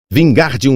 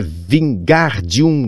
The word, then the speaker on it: Wingardium: É Wingardium Leviosa, o gar bem pronunciado e longo.